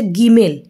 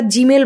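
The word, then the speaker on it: gimel: বর্ণমালার ৩ নম্বর বর্ণ, তার নাম হচ্ছে গিমেল। কিন্তু এটা আমরা জিমেল ভাববো না। এখানে জি মানে গয়ের উচ্চারণ হবে এবং শুদ্ধ স্পষ্ট গয়ের উচ্চারণই এরা নিয়ে থাকে।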